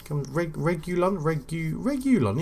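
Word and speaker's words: Reguilón: Reguilon Regulon. Yeah, that is how you pronounce his name.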